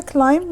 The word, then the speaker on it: climb: ومثل ما قلنا climb ما تلفظ بالبي.